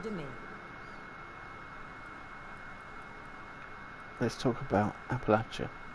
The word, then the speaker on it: Appalachia: You know it's pronounced Appalach, right?